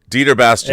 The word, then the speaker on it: Dieter Bastian: Dieter Bastian.